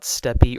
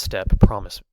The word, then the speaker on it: steppe: Now overall, Mexico has 5 different climate types, and they are desert, steppe, that's not steppy or steppe or steep, it's pronounced steppe, I promise. Look it up in a dictionary.